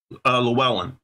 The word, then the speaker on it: Llewellyn: Llewellyn. Llewellyn. Yeah. Sounds like a girl's name. Llewellyn.